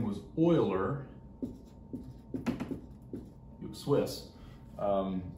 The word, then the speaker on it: Euler: did his name was uh his name was oiler swiss um it's not pronounced euler's euler so euler comes along uh and he